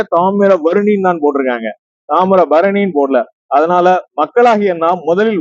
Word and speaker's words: தாமிரபரணி: ஆணித்தரமாக சொல்ல விரும்புகிறேன் ஆகவே முதலில் நம்மளுடைய உச்சரிப்பு வந்து தாமரை பருணி தான் இருக்கும் இந்த புஸ்தகத்துல பாருங்க தாமிரப